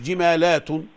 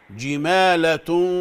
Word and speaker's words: جمالة: لا مش جمالات، جمالة صفر.